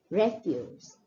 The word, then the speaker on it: refuse: So refuse used as a noun is refuse, refuse, which means a sort of garbage, leftover things that we don't need, refuse. And the second one, when it's used as a verb, it is refuse. So what you will notice here is when the word is used as a noun, the stress is more on the first syllable and the pronunciation is a little different.